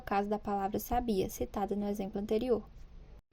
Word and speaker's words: sabia: Sabiá fugiu da gaiola a sílabas que formam cada uma das palavras destacadas são pronunciadas com maior menor intensidade sábia e Sabiá a sílaba em destaque em cada um dos exemplos é pronunciada com a maior força em relação às outras é nela que recai